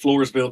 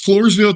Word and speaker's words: Floresville: Texas is that right Marcus yeah that's correct Floresville Texas okay I thought I was going to butcher the name of the town but it's Floresville Texas uh Wilson County Courthouse you know Courthouse